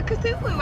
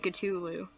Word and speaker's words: Cthulhu: I'm saying his name wrong, I should be saying Cthulhu.